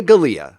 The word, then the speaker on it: Galia: know who she is Maria Dahlia Maria Galia her last name rhymes with her first name she took care of